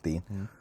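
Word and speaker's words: Lucas Digne: Why do people keep calling Luca Digne? Yeah. Darren Griffith says Digne, even though Luca's literally said his name's Dean.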